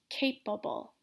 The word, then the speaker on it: capable: words just like before the stress is gonna be at the beginning of the word so remember to pronounce this longer louder clearer so capable durable like a bull